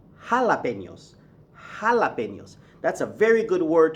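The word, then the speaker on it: jalapeños: You don't ask for jalapenos, you ask for jalapenos.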